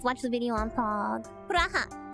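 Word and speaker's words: プラハ: Praha. That's how you say it in Japanese, in case you guys wanted to know.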